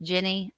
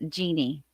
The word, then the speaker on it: Jenny: By the way, mine is pronounced Jenny, not Jeannie.